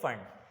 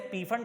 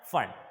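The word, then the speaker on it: Pfund: पैश्चन, bracket और फिर फंड। इसको वैसे पी फंड पढ़ते हैं बच्चे, बट उसूली तौर पे ये पी फंड नहीं होता बल्कि फंड होता है, इसमें पी साइलेंट होता है, ठीक है।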